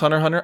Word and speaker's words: Hunter x Hunter: And out of all of them, I haven't talked about Sonic Heroes, but you ranked It's pronounced Hunter Hunter.